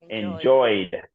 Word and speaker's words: enjoyed: the T very good what about enjoy would be the first intent enjoy enjoyed enjoyed where do I put it the D yes that's correct d very good and last